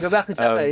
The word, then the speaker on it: Göbekli Tepe: I wanted to come to this monument in Turkey called Göbekli Tepe, if you can tell me if I'm mispronouncing that. Oh, you're fine, Göbekli Tepe, yeah.